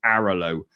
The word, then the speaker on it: Airalo: caused me any issues, is an app called Aralo, which is spelled AIRALO.